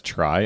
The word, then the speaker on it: trie: 208 so a try it's pronounced as try as I'm saying it or sometimes called a